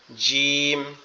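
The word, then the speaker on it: جيم: এরপরেরটা জিম, জিম, জিম। জিমটা একটু কি শক্ত আওয়াজে হবে, জিমটা একটু শক্ত আওয়াজে হবে। জিম, জিম, জিম এরকম ভাবে।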